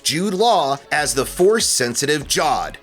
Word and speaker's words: Jod: Law as the force-sensitive Jod. Or was it Jard? I introduced myself as Jard, and they all call me Jod. Says Jard. However you would pronounce J-O-D.